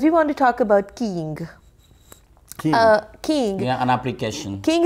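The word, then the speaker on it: Keeng: But it's not King. You know, not the spelling King, is but King. But it sounds King. Oh, okay. Okay. And King.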